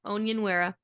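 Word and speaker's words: Onyenwere: pick up uh Michaela I know how to say this because I've been practicing own no onion onion wearer that's how you say it she's been doing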